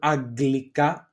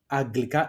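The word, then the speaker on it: Αγγλικά: Then we have the gamma gamma together and the gamma kappa together. That the sound is a g, like for example, aggelos, aggelos, or aglika, aglika English.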